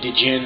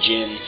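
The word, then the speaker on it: Djinn: this game I was not educated enough to know how to say the word Jin so I started putting an i between the D and the J and calling them D Jin so that's that's probably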